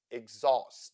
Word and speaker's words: exhaust: sounds Shin ambition exhaust H in this word is silent exhaust temperature t e in